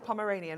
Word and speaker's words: Pomeranian: Is it the Pomeranian? Is that how you pronounce that? Thank you. I was going to say pomegranate, and that's definitely wrong.